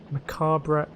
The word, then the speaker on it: macabre: Lemmings had a really macabre, that's how you pronounce it, edge to it.